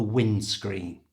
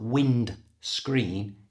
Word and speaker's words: windscreen: The big window at the front of the car is called the windscreen. Notice, to say this naturally, don't pronounce the D. It's not wind screen, it's windscreen.